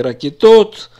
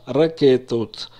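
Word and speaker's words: רקטות: Пиццот, ракета, во множественном числе ракетот, не ракетот, а ракетот.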